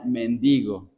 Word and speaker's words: mendigo: Es la palabra, se pronuncia mendigo. Sí. No acentúe en la e.